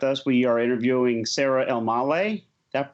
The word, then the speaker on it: Elmaleh: special edition with us we are interviewing sarah almalei that pronounced that correctly you nailed it how'd you